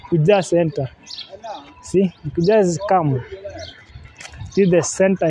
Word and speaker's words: Kuja: You know, when you pronounce it in a Luo, what do you say? Accent. Kuja. Kuna Kuja. Kuja is Swahili. Kuja. But when you do it in a Luo accent, Kuja.